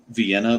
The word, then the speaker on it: Vienna: town in south Georgia is spelled like Vienna but it's Vienna not far from Dublin